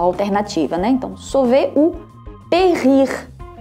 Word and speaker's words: périr: Então, sauver ou périr, périr. A função aqui do acento agudo, gente, é somente mudar a pronúncia do E, vai deixar de ser E e passa a ser E, mas ele é pronunciado.